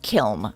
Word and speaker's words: kiln: Actually, in the on the east coast, it's pronounced a kill, like the thing that you heat pottery in.